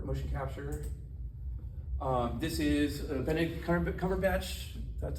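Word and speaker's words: Benedict Cumberbatch: great system for motion capture um this is Bennett C cover batch that's how you say his name he's um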